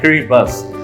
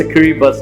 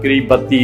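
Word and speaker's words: Kiribati: तो आप सोच रहे होंगे कि इसकी स्पेल है KIRIBAT, तो व्हाई आई am pronouncing it like किरिबस। तो अगर आप इनके साउंड पे जाएंगे तो इसका साउंड और इसकी स्पेलिंग में बड़ा डिफरेंस आएगा। तो इट्स किरिबस, इट्स नॉट किरिबती और किरिबत, राइट।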